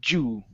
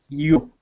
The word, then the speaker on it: you: Okay, so a couple of times you were pronouncing the word you with a Spanish Y, saying you. Okay, so remember, the Y sound is going to feel like an E. It's going to be E-U, you. You.